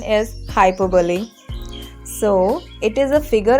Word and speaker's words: hyperbole: overheard streets talking about you next one is hyperbole no it is not like that you don't have to pronounce in this way because this is incorrect pronunciation it is its correct pronunciation is hyperbole so it is a figure of speech in